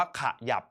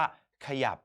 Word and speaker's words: ขยับ: อย่าง เช่น นะ ครับ ขยับ เรา ไม่ อ่าน ว่า ขยะ ใช่ ไหม ครับ แต่ เรา จะ อ่าน ว่า ขยับ เรา จะ อ่าน พยางค์ หน้า แค่ กึ่ง เสียง อ่าน เท่า นั้น เรา จะ ไม่ อ่าน เสียง เต็ม นะ ครับ ไม่ มี ใคร